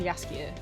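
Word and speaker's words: Jaskier: that's why it's pronounced yasier because it's a Polish word that's how you would pronounce that in Polish which is what The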